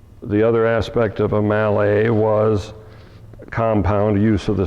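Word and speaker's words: Mallet: I and and reliable the the Mali is an American Distortion of the pronunciation of the man that invented the concept of two engines under one boiler the front one being articulated Malay Mr Malay was French I think in the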